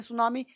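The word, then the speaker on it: tsunami: जैसे बोलते हैं ना सुनामी, तो टी सुनामी टी लिखते हैं ना, लेकिन पढ़ते हैं सुनामी, टी साइलेंट होता है।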